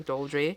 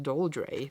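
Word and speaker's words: Doldrey: hawk staying on attack doldry it's not even how you say it to doldray doldray and I may also see like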